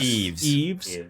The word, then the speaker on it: Yves: How do you guys think you say that? Eves. Come on, Yves Montand.